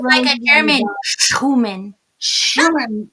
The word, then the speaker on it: Schumann: You gotta get your German, and I should because I'm German, so I should be able to say it properly. But I Uh-oh. think my English comes in there too Hmm, much, hmm. and my Irish kind of kicks in and says, Sherman, Irish, German, Sherman."